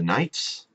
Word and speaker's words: knights: the Nobles are the knights which is spelled with a K because they used to pronounce the k they used to say